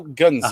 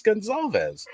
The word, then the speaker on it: Gonzalez: Joe, I always said it was Gonzalez. And just this past week on Clubhouse, Punk had asked him how he actually pronounces that because he's never actually heard him pronounce it before. And Joe told us it's Joe Gonzalez.